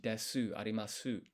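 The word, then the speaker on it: です: want this silent sound, the S is of the U here is of often skipped. So des when you write them, it's actually des.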